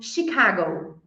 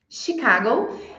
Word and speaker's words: Chicago: t t existem exceções existe por exemplo Chicago Chicago eh não é pronunciado Chicago é com som de sh existem então algumas exceções